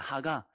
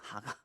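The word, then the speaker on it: הגה: 여러분 묵상이라는 것은요.이 단어가 이제 히브리어가 발음이 하가입니다. 하가. 그거 적어 놓으십시오. 하가.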